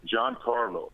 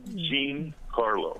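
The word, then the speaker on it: Giancarlo: MLB Network or whatever they don't even know how to pronounce it they call him Jean Carlo right it's John yeah man yeah I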